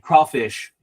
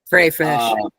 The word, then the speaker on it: crayfish: giant jumbo-sized crawdads and crawfish for your games. That stat is right there. Crayfish. There's no W in it. It's a crayfish.